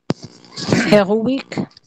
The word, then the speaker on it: héroïque: C'est-à-dire, vous allez chercher une diérèse. Vous cherchez une diérèse et vous les séparez. Héroïque. Héroïque, d'accord.